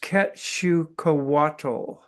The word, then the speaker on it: Quetzalcoatl: It's pronounced Quetzalcoatl, which means feathered serpent.